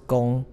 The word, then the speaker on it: 红: 十二化，指，指的是女工，这个字在这里不是念成红哦，它是工，就是女